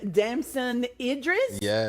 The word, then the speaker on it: Damson Idris: And Damson Idris, did I say it right?